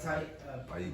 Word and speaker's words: Behique: Behique? Say that. What is that? Behique.